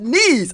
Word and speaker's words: Nice: about it n-i-c-e but it's not really pronounced as nice it's called knees of course it's not an English name because a French name and is pronounced As Nice not nice so police and Jamal